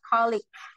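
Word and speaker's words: colleague: bacanya kalik ya guys eh polea gu ini bacanya colig jadi a colig itu rekan kerja dan a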